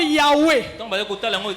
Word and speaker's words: Yahweh: En lingala ou dans les autres langues, quand on vocalise, ça donne Yahweh. Mais les Juifs ne disent pas Yahweh parce qu'on ne peut pas prononcer le nom de Dieu.